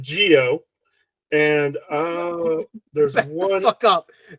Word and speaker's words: Zi-O: Again, wait, they call this one Geo, despite the fact it's spelled Zeo.